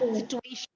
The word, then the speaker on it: situation: Ma'am, I've heard people saying it as situation where the T is like cha, so and then Situation. No, it's shun. Situation.